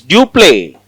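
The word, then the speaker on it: Dupleix: East India Company is duple duple x is silent dup he is very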